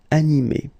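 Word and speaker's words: animée: So phonetically, you will get exactly the same form. So masculine form, animé, and then the feminine form, animé.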